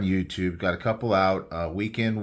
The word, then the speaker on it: WKND: Weekend Warrior, but it's spelled WKND.